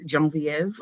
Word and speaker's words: Genevieve: But Genoese or Genois would be a fun name for it's the French name I love, Genevieve, but you have to pronounce it with the French pronunciation. Genevieve.